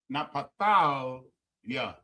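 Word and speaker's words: Naphtali: Napalia. Napalia. Napalia, right? Is how you pronounce Napa.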